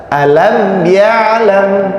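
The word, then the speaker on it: ألم يعلم: Mim sukun yang pertama, mim sukun bertemu dengan iya, ini izhar syafawi. Jadi dibacanya jelas. Alam ya'lam ya. Terus mim yang kedua, mim sukun bertemu dengan ba. Jadi ikhfa syafawi, mim sukun bertemu dengan ba ya. Alam ya'lam, makanya didengungkan. Alam ya'lam bi anna Allah yara ya.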